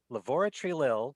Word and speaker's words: Laboratory Lil: I had to make sure I pronounce that because I keep saying lavatory. Laboratory Lil studio.